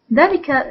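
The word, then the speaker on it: ذلك: arabic is delica delica dalika is also like heather and habi it is pronounced with alif but written without alif so we write it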